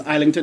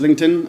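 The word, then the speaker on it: Islington: And it's Iington, not is LinkedIn. I don't know why people I I've heard him say his name.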